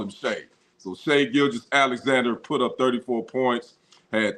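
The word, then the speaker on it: Shai Gilgeous-Alexander: it right thank you it is Shay gilis Alexander I was calling him Shai but you know I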